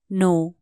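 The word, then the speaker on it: know: जानो लाइ के भन्ने नो के एन O double you नो यहां के साइलेंट हु्छ तसले कनो है नो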